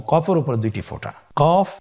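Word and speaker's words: قاف: কফ উচ্চারণের ক্ষেত্রে একটু মোটা করে উচ্চারণ করতে হবে।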